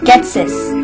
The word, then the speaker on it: Ghetsis: Ghetsis. That's how you pronounce the name.